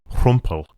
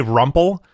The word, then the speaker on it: Rumpel: it's got like a rumple. I Oh, yeah. Americans say rumble uh but rumple.